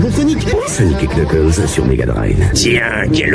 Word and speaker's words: Knuckles: Oui, je sais, ça se prononce Knuckles. Que voulez-vous, c'est l'habitude.